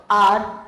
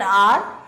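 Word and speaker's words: hour: Now, let's talk about R. What is the use of an before an R? In sentence 2, the word R begins with a consonant. It is beginning with H. Fine. But H is silent.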